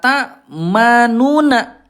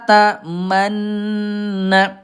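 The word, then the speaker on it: تَأْمَنَّا: Tapi Bunda tidak dibaca la tamuna. Dibacanya gimana Bunda? Nah, di e bacanya gini. La tamanna. Tapi Bunda di sini walaupun lamanna tidak dibaca manuna ini ismam monyongnya domahnya jangan sampai hilang.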